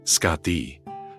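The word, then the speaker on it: Skaði: But one of the most famous and detailed stories concerning Nordra is his marriage to the Yotun Scardi, pronounced Scati, the formidable daughter of the giant Thiazi.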